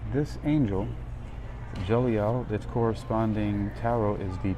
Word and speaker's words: Jeliel: And the angel is Je Jeliel, Jeliel.